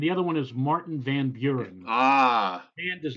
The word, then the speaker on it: Van Buren: to why okay just just make sure you pronounce the why mr. Buren its mr. Van Buren yes mr. Van Buren okay you're right for Cena pedia googling is